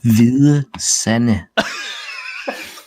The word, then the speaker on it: Hvide Sande: Near, I would say it's pronounced Hvide Sande, but I'm guessing it's pronounced completely different. Yeah. Are you ready? Yeah. Hvide Sande.